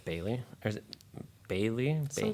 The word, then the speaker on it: Bailee: Bailee.